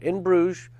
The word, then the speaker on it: In Bruges: Everyone help me because I'm going to mispronounce it. In Bruges? In Bruges. In Bruges. After 47 tries, I got it right. In Bruges.